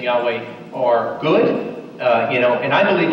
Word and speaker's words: Yahweh: I believe that form from historical and archaeological evidence is the closest that comes to pronunciation of the sacred name of Yahweh is phonetically pronounced Yahweh, like we say it.